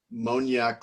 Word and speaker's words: Moniak: moniak is that correct monyak like cognac okay perfect all right